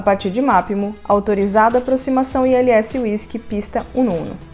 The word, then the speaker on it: ILS: Nem todas as siglas na aviação são faladas soletrando com o alfabeto fonético. Algumas delas, que é o caso de ILS, nós falamos letra por letra do alfabeto convencional. Então, para pronunciar ILS, nós falamos ILS.